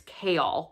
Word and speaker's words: Chaol: saying his name wrong so it's chaol like chaos without the s it's just an l um so i did